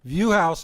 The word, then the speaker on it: Vuhaus: Viewhouse is spelled Vuhaus. I never would have got that right. Sounds German, right?